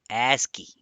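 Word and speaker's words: ASCII: disk okay moving forward for let's talk about asky now you probably have heard of asky what is asky asky first of all stands for or it is pronounced as aski and it stands for American Standard code for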